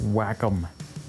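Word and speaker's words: Wacom: Oh, it's pronounced whack-em.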